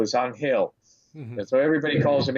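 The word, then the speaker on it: Ángel: la Cruz everybody says angel but you know he's he's Dominican so he you know he's a spanish-speaking man and the Spanish pronunciation of angel is on Hale that's what everybody calls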